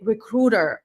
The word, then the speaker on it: recruiter: That's why you say recruiter, recruiter, not recruiter.